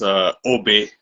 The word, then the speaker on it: Aubé: It's French, so it's Aubé. Aubé.